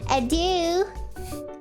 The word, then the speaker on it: adieu: Adieu. Is that how you say it? Adieu. Sounds like adu, not gonna lie.